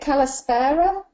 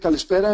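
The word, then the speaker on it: καλησπέρα: my pleasure thank you Michael so is it Kalisa are we we at that time of the evening or is it Kalita I can't even know how to pronounce it we will uh you could open with kalispera and you could close with Kika right perfect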